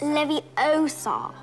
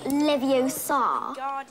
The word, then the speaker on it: Leviosa: You're saying it wrong. It's Leviosa, not Leviosa.